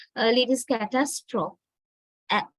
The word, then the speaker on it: catastrophe: Now, first word pronunciation, catastrophe. Catastrophe. Actually, we give heaviness, right? This a sound, the syllable, the second syllable is quite strong. Catastrophe, we say.